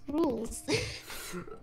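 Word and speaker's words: Rouxls: It's pronounced rules.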